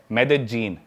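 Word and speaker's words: Medellín: उसकी एक सिटी है मेदजीन। स्पेलिंग में उसमें डबल एल आता है। मेदलीन होता है। लेकिन कोलंबन स्पेनिश में ल को ज बोलते हैं।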